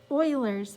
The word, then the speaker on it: Euler: was from switzerland and he spoke german and the way that you pronounce his name in his native tongue is euler leon hard euler is